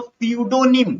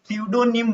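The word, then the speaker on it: pseudonym: हैं उसको बोलते हू सूडो निम क्या बोलते हैं सूडो निम बोलते हैं या प साइलेंट हो जाएगा स्पेलिंग ध्यान से देखिएगा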